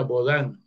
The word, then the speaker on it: Bodin: Con ese debate, y el libro, los 6 libros de la República de Joan Bodin, que se pronuncia Bodin, en 1600, en 1675,